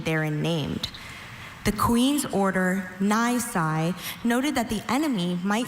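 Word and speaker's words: nisi: The queen's order Ny noted that the enemy might surrender and make an attack unnecessary. Ny n i s i nai.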